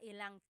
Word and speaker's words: ilang: Instead of mga ilan na tao ang darating, it's mga ilang tao ang darating. About how many people are coming. So that's just a pronunciation tip. Make that contraction to make it flow a little bit better.